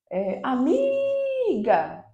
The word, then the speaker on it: amiga: Amiga, amiga. O mi é a sílaba tônica.